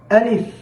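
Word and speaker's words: ألف: আলিফ আলিফ হরফটি উচ্চারণের সময় সামনের উপরে যে দুইটি দাঁত রয়েছে এই দাঁতগুলো নিচের ঠোঁট এর মাঝ বরাবর অর্থাৎ নিচের ঠোঁটের পেটে এসে লেগে যাবে।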